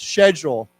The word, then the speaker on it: schedule: So why don't why don't we say it the British way once. Schedule. Yeah. So if you feel like being British, you can say it that way.